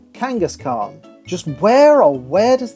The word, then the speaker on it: Kangaskhan: who replace that second t with a d Kangaskhan just where or where does that H go